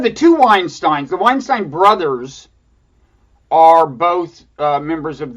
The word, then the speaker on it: Weinstein: yeah one of the two wine Stein's the weinstein brothers are both members of the dark web